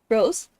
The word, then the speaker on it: Rose: Rose Soma Rose. Like the flower.